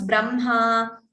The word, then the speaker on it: Brahma: How to pronounce Brahma, Vanhihi, all these. I've already said this in 2 classes. Even though it is written in a different way, ha and ma, we pronounce it as Brahma, Vanhihi.